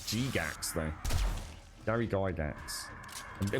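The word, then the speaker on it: Gygax: be honest gary geigs i was never sure how to pronounce his name i always said gary geigs i don't know it was g-gax though dairy guy dance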